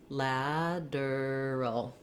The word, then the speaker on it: lateral: If that gives you trouble, focus on starting with your lad syllable where the stress is, lad, and then add your breaking it down, lateral. So it might be helpful to put the D here in this syllable. I just like to write the word lad there because that helps you know that that letter A is the black cat sound.